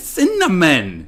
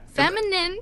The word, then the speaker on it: cinnamon: word okay fine yeah feminine feminine I don't know feminine feminine no cinnamon there you go you got it you got it cinnamon cinnamon I like my